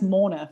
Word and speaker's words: Morna: So you can imagine how many times that's been butchered, because even with my accent, you actually can't hear how it's spelled because it's got an R in it.